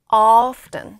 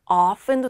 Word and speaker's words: often: always, usually, often. 자, 요거는요. 티바음을 하는 사람들도 있고 티발음을 아는 안 하는 원어인들도 있어요. 그래서 그냥 often도 되고 often 이렇게 often often 이렇게 발음해 오시고요.